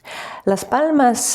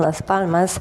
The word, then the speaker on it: Las Palmas: By the way, the locals don't pronounce the s at the end.